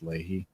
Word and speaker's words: Lahey: Which I know is rich coming from a guy whose last name is spelled like Lahey, and it's Lahey.